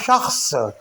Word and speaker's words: شخص: اور دوسرا لفظ ہے شخص۔ شخص میں بھی خ اور صاد یہ دونوں حروف ساکن ہوں گے۔ ایک بار ایک شخص آپ اگر اس کو شخص کہہ کر پڑھیں گے تو یہ غلط ہوگا۔ شخص، تو یہ دو